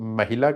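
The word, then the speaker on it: ਮਹਲਾ: मैं और कवा कयान कई लोग महल्ला कहंदे कई लोग महिला क कई लोग महला कह महला मैं इस करके बोलदा क्योंकि हाहे न नाता अक लगा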